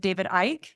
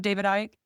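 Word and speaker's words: David Icke: I did just finish reading the trilogy of David Ike, David Ike's books.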